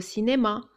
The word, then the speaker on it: cinéma: Cinéma. Il y a un i après le c et ça se prononce ce, cinéma.